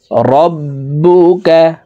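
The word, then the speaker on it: رَبُّكَ: মা ওয়াদ্দাআকা মা ওয়াদ্দাআকা রব্বুকা। বার উপরে তাসদিদ আছে, তাই আমরা এই বা হরফকে দুইবার উচ্চারণ করে পড়ব, একবার পূর্বের হরকতের সঙ্গে আরেকবার নিজ হরকতের উচ্চারণ হবে।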